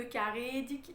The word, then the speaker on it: karedik: Alors le E de karedik, il est assez long pour que du coup ensuite moi je puisse le placer.